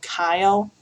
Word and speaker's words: chyle: That fatty lymph that comes off of it is called chyle, spelled with a CH.